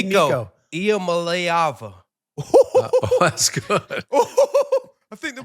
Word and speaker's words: Nico Iamaleava: Nico Iamaleava. Wow. That boy knows his pronunciations.